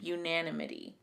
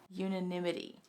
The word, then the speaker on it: unanimity: The illusion of I can never say this word. Help me. Unanimity. It's like anemone. I can't say this word. Unanimity.